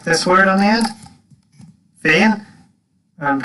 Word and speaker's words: féin: You just stick this word on the end, Féin, and pronounce it like this. Kaje Mara Tatu Hain. Now you notice I pronounce that with H sound, not with an F.